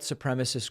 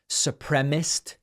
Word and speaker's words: supremacist: By the way, I hear sometimes supremacist pronounced supremist. Like I think Lindsey Graham says it that way and some others. I don't know where they're getting supremacist. Supremacist is the word.